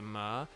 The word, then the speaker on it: myrrh: But myrrh, for a Northern Irish person, sounds like how they would say mirror, because again, it's the same thing where like they kind of blur the 2 syllables into one.